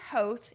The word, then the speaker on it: Hoth: It's Hoth, and it's spelled H-O-T-H, rhyming with both, okay?